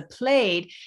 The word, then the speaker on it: plaid: A plaid, or what the Scottish people would pronounce as a plaid, is actually the same fabric, but in a long flat piece.